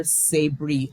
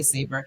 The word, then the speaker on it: Sabri: Um, so that main character, so I call her Sabri. However, you're not wrong to say Saber. And one of the reasons that I gave her name, the pronunciation of her name is actually deliberately ambiguous because it goes to